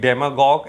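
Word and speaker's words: demagogue: تلفظ دیکھ لیجئے گا DEMAGOGE، ڈیماگوگ.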